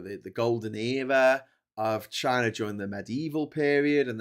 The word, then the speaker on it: Xi: Um but yes um it was it was founded by the the uh emperor Chi spelled Xi which is why China should technically begin with an X but it doesn't but